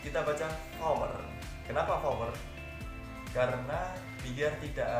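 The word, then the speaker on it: Four: 4 kita baca power. Kenapa power? Karena biar tidak ada kerancuan dalam pengucapan.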